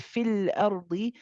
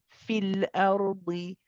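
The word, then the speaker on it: في الأرض: However, we do not pronounce this ya in continuation. When we join it with fil ardi, we do not pronounce the ya.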